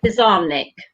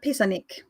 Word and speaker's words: Pizarnik: mine is alejandra uh pizarnick have i pronounced that correctly yeah alejandra pisanic from what i've heard uh spanish speakers so this was